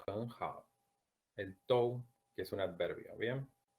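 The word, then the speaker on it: 都: Quizás esta sílaba les cueste pronunciarla porque en español no tenemos muchas palabras que sean la unión de vocal o u.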